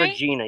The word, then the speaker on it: Regina: Regina. Yeah, Awesome. that's the proper way to say it, girl. Exactly. It's Latin for queen.